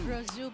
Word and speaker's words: Rousseau: How do you pronounce it? Ako ang Rousseau. Rosu, but she's called Ellie.